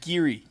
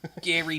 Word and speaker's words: Gary: here oh my God Gabby Daniels Gary Daniels it's pronounced giri Gary Daniels sorry first